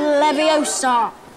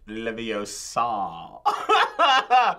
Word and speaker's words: Leviosa: You're saying it wrong. It's Leviosa, not Leviosa. I had to know that.